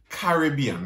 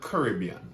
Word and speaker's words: Caribbean: Caribbean, not Caribbean.